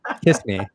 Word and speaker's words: Kissimmee: will be going on that same weekend in Kissimmee with 10 Lorcana artists down there. In where? Kissimmee, Florida. In where? Kissimmee. There we go. Kissimmee. Kissimmee. I love it. It's. I love. You're so beautiful. It is pronounced Kissimmee.